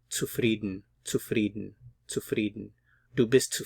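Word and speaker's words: zufrieden: frieden dubist to frieden be careful with the pronunciation here the C is like a a TS to frieden to frieden to frieden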